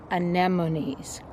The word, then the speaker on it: anemone: do a follow-up to my video on japanese anemones said it right yay but first let me